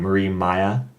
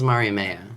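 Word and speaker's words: Mariemaia: But the villain of that story, one more time, Marie Maya. That is my Miramaya? recollection of the pronunciation. Miramaya? My recollection is Marimea. Marimea. But I think that's the dub pronunciation for all intents and purposes.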